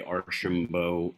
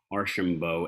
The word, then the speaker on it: Archambault: of your name it's it's precisely why my uh my handle everywhere is the phonetic spelling of my last name at arshambo a-r-s-h-i-m-b-o um even my sales